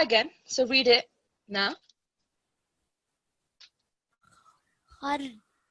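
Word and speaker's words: خردل: Khardalin. The dal has fatha, so don't prolong the dal.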